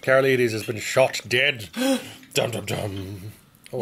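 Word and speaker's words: Karolides: what was his name kara ladies yes now i know how to pronounce it carol ladies has been shot dead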